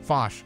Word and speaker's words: Foch: of Lawrence Lipton interestingly her last name fos rhymes with gosh she HED her acting